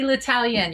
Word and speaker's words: L'Italien: and did i come anywhere close to pronouncing that right you did you did i mean i'll answer to anything but latalian you nailed it oh good good i meant